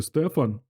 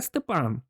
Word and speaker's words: Степан: означає ти хотів сказати Стефан з перепитав той ні саме Степан наголос на останній склад Шеф казав розшифровується як